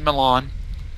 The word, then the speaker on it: Milan: Milan, or however you want to pronounce his name. I pronounce it Milan.